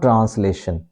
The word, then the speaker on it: translation: t Tran t trans this is not translation okay it's incorrect to say it translation this is tr trans and this s gives a z sound so we say trans